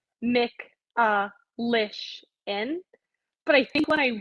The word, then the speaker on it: Michalyshen: So it's Michalyshen. But I think when I wrote it down phonetically, like it could have gone either way.